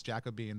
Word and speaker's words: Jacobean: so i don't know how to pronounce whether it's jacobian or jacobean it's jacobean by the way um i don't know